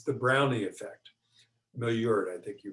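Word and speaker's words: Maillard: nerve number two the malware reaction and i think you're butchering the it's a french word it's a cooking word it's the brownie effect milliort i think you pronounce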